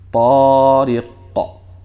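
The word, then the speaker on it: طارق: Half of a fatha, half of an A. So the way it should sound is like this. Tariqa, tariqa, tariqa, tariqa, tariqa.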